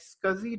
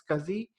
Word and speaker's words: SCSI: available in the market scuzzy Drive SCSI it is pronounced as scuzi SCSI pronounced as scuzzy and then SAS drives